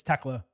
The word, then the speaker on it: Thekla: I know I just called her Thekla twice, it's Tekla. I see the H, I say it.